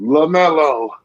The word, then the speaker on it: LaMelo: LaMelo in Charlotte, they got that commentator the way he said his name, LaMelo. Mm-hmm. That's how you say it.